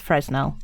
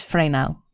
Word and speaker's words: Fresnel: So at first glance, I would say that's Fresnell, but it's his name. That's how you would pronounced his name. It's Frey now.